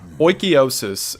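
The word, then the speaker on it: oikeiosis: Oikiosis, and according to the internet that is how it's pronounced, I looked one up this time, is closely related to ideas of Stoicism.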